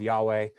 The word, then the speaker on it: Yahweh: But just for your understanding, like I'm going to go with Yahweh. Just the school that I went to, that's how they pronounced it, and so that's how